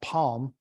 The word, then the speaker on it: PaLM: But right behind it, Google is creating their own version of ChatGPT called Palm. They spell it capital P-A, capital L-M.